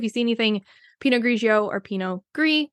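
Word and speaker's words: Pinot Gris: see anything pinio or Pino gree which is g r i s they are the same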